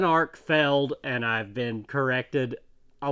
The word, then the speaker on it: Arkfeld: is the one that I very obviously mispronounced last time I don't know why I called it an art field it's an arc failed and I've been corrected